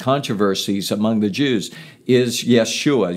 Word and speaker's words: Yeshua: among the Jews is Yeshua Yeshua says hebrew aramaic pronunciation of his name which is joshua in english but there's a transliteration